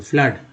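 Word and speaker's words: flood: FLWD फ्लड में double O का उच्चारण क्या हो रहा है, आ के रूप में फ्लड। क्या बोल रहे हैं, फ्लड बोल रहे हैं।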